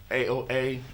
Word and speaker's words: Aoa: How do you pronounce it? Aoa Empire.